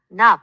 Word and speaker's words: knob: knee, 무릎나 knob, 손잡이처럼 kn으로 시작하는 단어들은 K가 psychology, 심리학처럼 푸스로 시작할 때 P가 climb, 오르다에서는 B가 묵음이고 talk, 말하다에서는 L이 묵음이 된답니다.